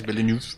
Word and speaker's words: Villeneuve: Esta película de Arrival de Denis nunca puedo pronunciar. Villeneuve o algo así, Villeneuve.